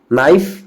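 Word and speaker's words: knife: यहाँ पर वाइफ्स नहीं पढ़ेंगे, वाइव्स, नाइफ, के को यहाँ पे साइलेंट रखेंगे, के को क्या करेंगे, साइलेंट रखेंगे, बिल्कुल साइलेंट।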